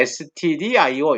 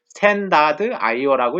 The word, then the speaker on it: stdio: 읽을 때 stdio 이렇게 읽지 말고 스탠다드 io라고 읽으면 여러분들이 의미가 명확할 것입니다.